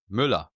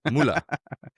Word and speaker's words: Müller: How How do you say it in German? Müller. Oh, Müller. Yeah. Yeah. But you got to you got to have the U with the two dots, right?